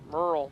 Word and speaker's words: Merle: They told me it's Merle. They pronounce it like Merle. Merle Pardee. Merle Haggard. It's like Merle. M-E-R-L, huh? M-E-R-L. Merle.